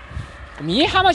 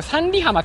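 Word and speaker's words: 三里浜: さ、これ三里浜って読むんじゃないの、実は三重浜じゃないよね、これ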